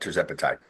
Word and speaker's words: Tirzepatide: going to try to do the second one, Tirzepatide. How does that pronounce, Steve? You got it. Tirzepatide.